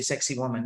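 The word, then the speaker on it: Sacsayhuamán: you'll find anywhere um if you want to pronounce it probably you could say sexy woman that's how it's uh kind of pronounced then you'll have lunch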